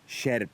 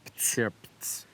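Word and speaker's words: Sierpc: Sept. Sept.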